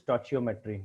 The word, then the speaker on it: stoichiometry: Today my topic is very important for competitive point of view, that is stoichiometry, or sometimes you also pronounce it as stoichiometry, no issue.